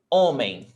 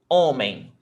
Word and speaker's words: homem: Homem. Homem. We've got 2 syllables, or, men. But the stressed is not the last one, it's the before last, right?